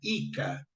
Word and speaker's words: JCA: trabalhar na agricultura tá esse JCA que era pronunciado como se fosse um i não J eles falavam ica JC seria ica mas